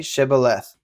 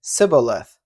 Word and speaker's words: Shibboleth: When he said, "No," they said to him, "Then say Shibboleth." And he said, "Sibboleth," for he could not pronounce it right.